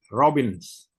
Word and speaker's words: Robbins: Robbins. Robbins. Stephen Robbins. Kalau Stephen saya kira bisa menulis Stephen ya, Stephen. Robin, Robbin. Dibacanya, ditulisnya Robbins.